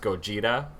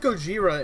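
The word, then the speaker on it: ゴジラ: So Godzilla originally, in the like OG movie, you see it spelled and pronounced Gojira with like a J sound.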